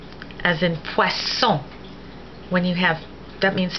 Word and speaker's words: poisson: S, as in poisson. When you have, that means fish. When you have two S's, then it's pronounced like an S, like the S in Spanish.